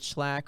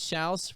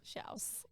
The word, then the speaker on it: Schalch: every time, but that my last name is Shouse, not Schlack or Shaylock or Schalk. It's Shouse, rhymes with house. Shouse.